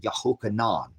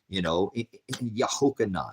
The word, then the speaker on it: Yehochanan: street and said, because John would be pronounced Yehochanan, Yehochanan.